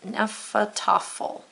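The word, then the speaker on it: Hnefatafl: I wrote down that it was a noun and how to pronounce it, Nephal Tuffle.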